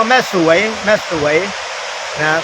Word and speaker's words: แม่สรวย: ว่า เขื่อน แม่ สลวย ถ้า คน ทั่ว ไป เ จะ เรียก เขื่อน แม่ สลวย เพ ปรากฏ ด้วย ส เสือ ล เรือ ว แหวน แล้ว ก็ ย ยักษ์ นะ ก็ เหมือน อ่าน ว่า สลวย แต่ จริง ๆ คน แถว นี้ เ เรียก ว่า แม่ สวย แม่ สวย นะ ก็